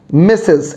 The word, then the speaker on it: Mrs: one in the list is mrs i repeat misses and how do we write it m r s and what does it